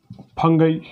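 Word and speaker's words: fungi: कैसे, फिर तीसरा किंगडम फंगई जिसको फंजे बोलते हैं, चौथा किंगडम प्लांटी या plant kingdom, and kingdom animalia या एनिमल किंगडम।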